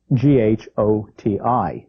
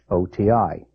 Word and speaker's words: ghoti: Bernard Shaw said that in English we could spell fish Ghoti that's gh from tough the Oh from women and the ti from nation Ghoti fish spelling English is difficult